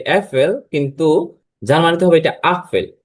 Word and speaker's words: Apfel: যেমন এখানে একটি এফেল দেওয়া আছে যেটা আমরা ইংলিশে বলি এফেল কিন্তু জার্মানিতে হবে এটা আফেল ইংলিশ এ আর জার্মান আ দুটোই কিন্তু দেখতে সেম কিন্তু তাদের উচ্চারণগত দিক থেকে সম্পূর্ণ আলাদা যদি আমি একটা সেন্টেন্স